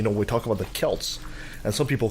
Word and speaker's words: Celts: the S sound but when you talk about the ages aged people that were the ancestors of the Irish its Celts authentic here boy this is